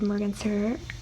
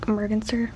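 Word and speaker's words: merganser: is clearer my cancer okay I think I said it right the first time and then I kind of said like morganster next we have turkey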